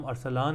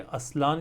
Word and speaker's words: Arslan: जिस तरह for example मेरा नाम अरसलान है। अगर मुझे कोई कहता है कि असलान कहता है या मतलब जहां जो